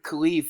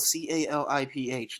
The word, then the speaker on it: caliph: khalif now that word khalif is spelled c-a-l-i-p-h now that sounds work caliph but it's actually but in arabic it's khalif it's kind of like